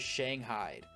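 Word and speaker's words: Shanghaied: buff out those scratches I just spent five minutes pronouncing this one wrong till I looked up how to say it and that is Shang Hyde I love the ghostly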